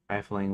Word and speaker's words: rifling: However, riffling with two is a precise term for lightly flipping through pages or cards, pronounced rifling, one F, rifling, smiling, or file.